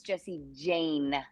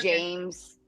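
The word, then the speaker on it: Jesse Jane: It's Jessie Jane. Wait, okay, that's what I thought, but I was like, yeah, I don't know why I was saying like, James.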